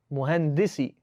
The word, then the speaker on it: مهندس: No, don't make a long D. Make a short dal on muhandis. Muhandisi.